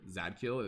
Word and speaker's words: Zadkiel: maybe like it's about like z-a-d-k-i-e zadkiel but like pronounced as a word zadkiel it's interesting it works